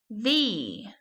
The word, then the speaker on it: the: Thee, or the. You can pronounce it either way. You can pronounce it thee or the. T-H-E, thee.